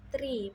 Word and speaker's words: tree: Angka 3 yaitu tree, pengucapan R yang jelas.